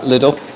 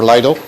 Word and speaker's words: Lidl: This one here came out of Lidl, or Lidl, however you want to pronounce it.